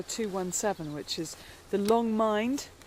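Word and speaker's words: Mynd: which is the Long Mind. Mind. Do you know, I knew I'd get that wrong. The Long Mind, but spelt with a Y, M-Y-N-D, and Wenlock Edge.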